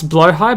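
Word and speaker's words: Blåhaj: cuddling uh my uh so they pronounce blow high but I have named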